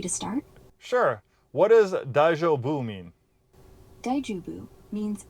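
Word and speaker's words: 大丈夫: What does daijobu mean? Daijubu means it's okay, or are you all right? Like when someone asks if you're fine after a stumble. Pronounce it dai-jo-bu.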